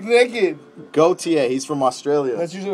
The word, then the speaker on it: Gotye: Well, how do you pronounce that, Phillip from Galt? Gotye. Good. Close. Try again. Gotye.